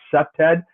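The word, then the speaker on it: CPTED: do as a trained septad and it it it's it's pronounced septed.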